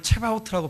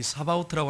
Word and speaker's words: 사바오트: 원어상에 보면은 이 사바오트라고 하는 단어인데 어떤 분들은 발음을 체바오트라고 발음하는 분도 있어요. 이 사바오트라고 하는 발음을 가지고 일반적으로 합니다.